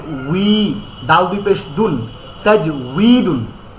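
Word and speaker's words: تجويد: দুই পেশ দুন, তাজউইদুন, তাজবিদ না তাজউইদ, ওই প্রথম যারা লিখেছেন আপনি ওইটাই তাজউইদ। হ্যাঁ, তাজিম জবর তাজ, ওয়াও ইয়াজের উই, তাজ উই, দাল দুই পেশ দুন, তাজউইদুন, এটা হচ্ছে মূল উচ্চারণ। তাজবিদ না, ওয়াও কখনো বা হয় না।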